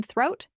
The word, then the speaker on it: throat: I have a sore throat and a fever presents the challenge of the th sound in throat. Place your tongue between your teeth.